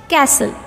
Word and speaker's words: castle: is a silent letter next castle castle in this word t is a silent letter T is a silent